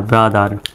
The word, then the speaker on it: brother: BRO ব্রা, THER দার, ব্রাদার। যদিও বা শুধু BRO থাকলে ব্রো উচ্চারণ হয়, কিন্তু যখন THER থাকবে অর্থাৎ পূর্ণাঙ্গ শব্দের মধ্যে BRO থাকবে তখন ব্রো উচ্চারণটা হবে না, ব্রা উচ্চারণ হবে, BRO ব্রা, THER দার, ব্রাদার।